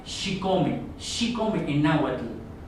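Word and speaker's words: chicome: Y el 7 se pronuncia Xicome, Xicome en náhuatl.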